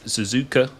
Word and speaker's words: Suzuka: Offline championship leader is, I think the way to pronounce it is Suzuka.